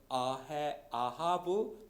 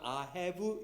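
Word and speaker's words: אהב: 여기 이 사랑하기 때문에라고 하는 이 말을 여러분 히브리어 성경에 보면 뭐라고 썼느냐면 아하브 또는 아헤브 이렇게 발음하게 되어 있어요.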